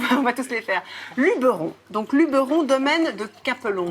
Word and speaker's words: Luberon: Moi, c'est le Luberon. Pardon. Ça commence. On prononce pas l'accent. Luberon, c'est vrai? Ouais. Ça fait pas un peu parisien, Luberon, non? Non, justement, c'est Luberon qui fait parisien.